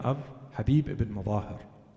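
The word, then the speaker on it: Mazahir: name of Habib ibn Mudahir. There are versions to his name that are a little different from the popular version. Habib is accepted, but some say his name is Habib ibn Mudahir or Mutahhar.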